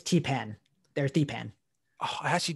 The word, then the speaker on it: Theepan: well i also i think i said your name wrong you'll see around right oh no that that's that was that's actually a mistake on my computer it's i don't know why zoom does that it's it's t-pen there's d-pan oh i